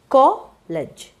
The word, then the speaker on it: college: So the word college, college. So you have 2 syllables, it's a noun.